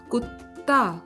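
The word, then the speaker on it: कुत्ता: Dog is known as kutta, kutta. Now here the pronunciation of T is not T, but the pronunciation of T is similar to that of T in the word pasta, pasta.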